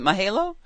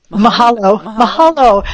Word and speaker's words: Mahalo: Mahalo." Mahalo.